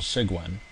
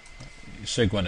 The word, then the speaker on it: Cygwin: to run on Windows called sigan sigan is spelled c YG wi n uh go ahead and